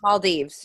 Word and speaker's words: Maldives: Maldives, yeah.